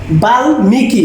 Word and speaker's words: বাল্মীকি: এটা হচ্ছে বাল্মীকি, ময়ের উচ্চারণ বজায় আছে। কখনো কখনো ময়ের উচ্চারণ থাকে না। আত্মীয়, আর এখানে হচ্ছে বাল্মীকি।